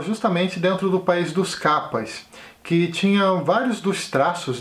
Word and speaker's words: Kappa: Diz ele que viveu por um tempo no país dos Kappas, que são criaturas da mitologia japonesa. Os Kappas, que na pronúncia exata seria algo como capaz, eles são um tipo